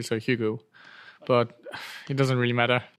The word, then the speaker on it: Hugo: in France we pronounce Ugo UG and then in Germany we pronounce Hugo and then when I pr when I I say it um I pronounce it the English way so Hugo but it doesn't really